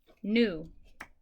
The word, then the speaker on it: gnu: New. New. And remember, when it's GNU, it's the animal, not like I knew that.